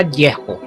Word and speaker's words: Yeho: Por ejemplo, si la yod y la hei van al inicio de un nombre o una palabra, siempre se pronuncia Yeho, etc. Sin embargo, cuando la yod y la hei son un sufijo, siempre pronunciará Yahu y nunca pronunciará Yeho. Por consiguiente, como es muy conocido universalmente, decimos aleluya y no aleluyé, porque aquí la yod y la hei están al final de la palabra.